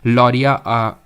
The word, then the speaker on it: लौरिया: जैसे कि बात करूं लरिया यहां पर लिख देता हूं मैं ठीक है लरिया अराज लौरिया है ठीक है कुछ और मत प्रोनाउंस करिएगा इसको लौरिया नंदगढ़ ठीक है